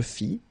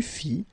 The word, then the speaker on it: fis: Je fis. Tu fis, il fit, elle fit, nous fîmes, vous fîtes, ils firent, elles firent. Okay, so one more time. Je fis, final S not pronounced, tu fis, same thing.